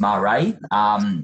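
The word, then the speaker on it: Maré: This is Marae, it's pronounced Marae.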